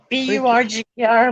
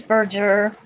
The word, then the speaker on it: Berger: Burger, Berger. I know everybody pronounces it burger, but it's Berger.